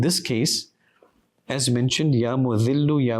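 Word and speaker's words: المذل: Ya Mu'adhillu is with a dhal.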